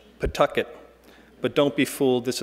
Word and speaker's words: Pawtucket: You pronounce the city's name as though you're spitting out a tooth, Pawtucket.